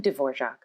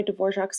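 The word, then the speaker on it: Dvořák: the next piece was written by antonin divorc a czech composer famous for composing pieces of music in the romantic era heavily influenced by folk music around the world his last name is spelled d-v-o-r-a-k but pronounced dvorak cool right he also always looked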